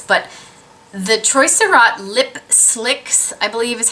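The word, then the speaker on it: Slique: can get this, but the Troy Surratt Lip Slicks, I believe is how you pronounce it.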